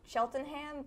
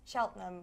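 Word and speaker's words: Cheltenham: um a lot of people think it's chel sheltonham but since that's what it looks like yeah that's how it's spelled but since it's from the from a British dialect it's pronounced cheltam which is really rude in my opinion exactly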